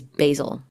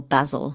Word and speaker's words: basil: But my favorite smell in the world is basil, or basil, if you want to say it like that.